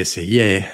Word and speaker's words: essayer: De hecho, él mismo le dio nombre al género porque essayer, o como se pronuncia correctamente en francés, significa sencillamente probar, ensayar, vamos.